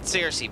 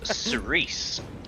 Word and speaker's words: Cersei: Is it Cersei, by the way, or am I buttering the pronunciation of your name? Cuz if you want, I can just call you the mage instead. It's sice.